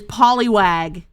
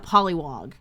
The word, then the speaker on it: Poliwag: i made an error it is poliwag it is a poliwag not a pollywog i will i will